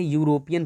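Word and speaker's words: European: इसको पढ़ते हैं यूरोपियन पढ़ते हैं, यू, तो य क्या है, ये कॉन्सोनेंट है, तो इससे पहले ए लग गया।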